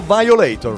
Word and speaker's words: Violator: io lei tor o violator come siccome si pronuncia marco silvi te ne sai credo violator violator assolutamente io poi d'inglese ragazzi c'è una